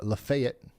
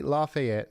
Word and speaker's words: Lafayette: and Mon County's uh Lefayet. Lefet. God darn it. You guys know what I'm talking about. Well, I say Lafayette and everybody says it's Lefay. I say Lefayet and then people say it's Lefet.